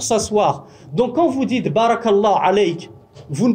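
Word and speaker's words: بارك الله: Baraka, si vous ne prononcez pas la voyelle longue, ça veut dire s'asseoir, et plus précisément c'est l'assise du chameau.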